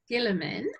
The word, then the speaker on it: Guillemin: Lovely, because I've got your email address here, so I'm just going to say it's Guillemin, and it's spelt Guillemin.